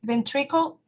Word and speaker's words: ventricle: La sílaba tónica sería tri. In this case, in English, it's ventricle, right?